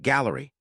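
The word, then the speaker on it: Galleri: The Food and Drug Administration has been evaluating a blood test called Gallery, pronounced like Gallery, as a breakthrough device that can detect many different types of cancer in one test.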